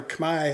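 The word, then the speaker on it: Khmer: stuff in English and in Kair or Kamay as it's sometimes pronounced about this institute which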